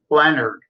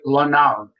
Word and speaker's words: Leonard: you you know what my last name l n a r d Leonard people always want to call pronounce it lonard so you know you